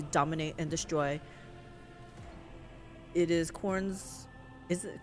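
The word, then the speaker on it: Khorne: always against their will yes pronounced like corn okay servatur are not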